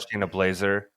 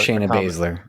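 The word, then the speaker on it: Baszler: They also had Shaina Blazer. Uh I'm sorry, Shaina Baser. How do you say her name? Basler. Basler. Shaina Basler. A combination of the way the two ways I said it wrong.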